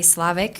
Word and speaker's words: Levesque: accept Kip's application thank you next is Levesque did I say it right thank you and good evening board members my name is Slovak and I've been working in the field of